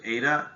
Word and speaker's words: eta: efficiency we use this greek letter um we pronounce it eta it looks like a little z a little